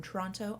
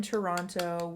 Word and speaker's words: Toronto: knows I live in Toronto, Ontario, Canada. Also known as Toronto. If you pronounce two T's in the Toronto, you're not from here.